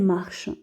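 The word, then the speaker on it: marchent: Et j'obtiens il marche, elle marche. ENT se prononce E. Attention, on prononce E. On dit il marche, elle marche.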